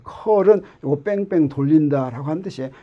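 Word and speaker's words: curl: 요거 각 좌표계에서 어떻게 대표되는지 우리가 나중에 필요할 때 다시 하겠지만, 요거는 뭐라고 읽냐면 컬이라고 읽어요. 컬은 요거 뺑뺑 돌린다라고 하는 뜻이에요.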